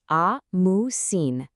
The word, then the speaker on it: ամուսին: Well, for husband, the word is ամուսին, which is ամուսին. And for wife, it's super simple, just keen, pronounced kin.